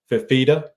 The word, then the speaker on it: Fifita: against Arizona quarterback, and I hope I'm pronouncing it right. Couz, correct me if I'm wrong. Fifita? Yes. Noah Fifita.